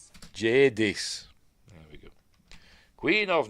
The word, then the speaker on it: Jadis: How does he pronounce it? Jadis. Jadis.